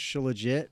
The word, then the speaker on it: Shilajit: I think it's pronounced Shilajit, but we say she legit.